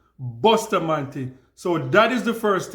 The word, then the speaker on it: Bustamante: pronunciation right it's not booster Mante it's Buster man that's How Jamaicans pronounce it Buster man so that is the